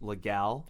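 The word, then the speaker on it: Leduc: Okay, well, I noticed that you grew up in legal Alberta. Yes, it's actually pronounced legal.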